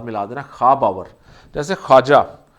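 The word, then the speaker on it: خواجہ: जैसे ख्वाजा, ये लफ्ज़ ख्वाजा नहीं होता, ये ख्वाजा नहीं होता, दिस इज़ ख्वाजा। तो ये खा के साथ अलिफ मिला दे, वाव प्रोनाउंस नहीं करते ख्वाजा।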